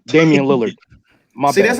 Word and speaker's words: Damian Lillard: You said Dillard. Oh, Damian Lillard.